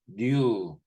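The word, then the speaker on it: ν: 자유도, 뉴라고 읽어요. NU, 뉴.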